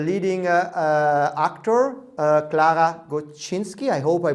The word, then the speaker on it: Gostynski: what is how is the right way to pronounce your name it's gustinski okay and where does it come from from